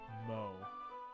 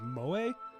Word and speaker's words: moe: It's exceedingly mo. I think Like from The Simpsons? no, I think that's a term. I think it's pronounced moe, I believe.